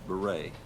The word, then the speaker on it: Beret: Chris Beret yes sir you pronounced it correctly so that's impressive well